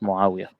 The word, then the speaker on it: Muawiyah: And during the last couple of years, according to Odin, that's when Muawiyah, have I pronounced it correctly? Muawiyah, yes, Muawiyah.